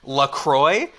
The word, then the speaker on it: LaCroix: whole topic without mentioning Lacroix the company insists pronounced LaCroix but really it should be Lacroix which when it first